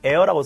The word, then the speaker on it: heir: 그래서 유전 상속하는 사람을 heir라고 씁니다. h가 묵음이 되고요.